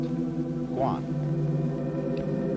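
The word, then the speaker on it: 觀: And the whole character is pronounced Guan.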